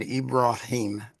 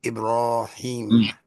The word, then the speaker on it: Ibrahim: And there was a question that Ibraim, as his name is to be pronounced, Ibraim.